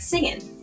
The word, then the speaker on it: singin': In the song, the G sound at the end of ing words is dropped. This sounds like singin', dancin', and feelin'.